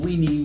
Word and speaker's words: veni: in Latin is veni except some people pronounced it slightly differently and they would pronounce the V as a W. So some people think he said weeny, weedy, and wiki, thereby